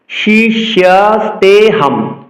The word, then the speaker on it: শিষ্যস্তেহম: পুনরায় বলছি, শিষ্যস্তেহম। উক্ত স্থানে হর মতো একটি চিহ্ন দেখতে পাচ্ছি, যেটিকে আমরা অবগ্রহ লুপ্তকার নামে চিনি। উক্ত চিহ্নটি সংস্কৃত শ্লোক উচ্চারণে অনুচ্চারিত থাকবে।